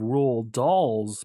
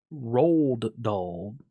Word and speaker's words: Roald Dahl: it up and apparently because he is Norwegian you do not pronounce the D at the end so it's not Roald Dahl or ruled doll it's rule doll hmm